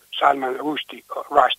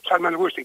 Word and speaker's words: Salman Rushdie: Però io soprattutto continuerei a ricordare Salman Rushdie, tutte e due le pronunce vanno bene, una all'indiana e l'altra all'inglese. Salman Rushdie, secondo me, continua ad essere il maggior scrittore